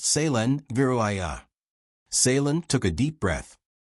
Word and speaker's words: Kaelen Vireth: Kaelen said, that is pronounced Kaelen Vireth.